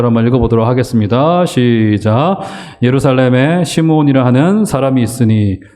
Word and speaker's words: 시므온: 시므온. 그런데 구약 성경에서는 그런 비슷한 이름을 시몬이라고도 발음을 하기도 했어요.